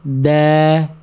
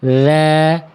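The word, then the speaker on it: ذَ: A maaf adabahu ada da da. Jangan da tapi dza dza. Enggak boleh da da itu suaranya mampet ya.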